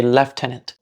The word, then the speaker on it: lieutenant: Why do Americans say lieutenant, but British people sound like they add a V or an F and say left tenant?